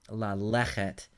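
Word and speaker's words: לָלֶכֶת: In this case, what has happened is the lamed has attached to the syllable that is accented, lechet. And so, for reasons you don't need to worry about, the schwa has become what we call a pretonic kametz. So, la lechet is just the preposition with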